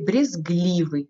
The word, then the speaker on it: брезгливый: вот это значение слова и брезгливый ударением падай на и так дальше идем слова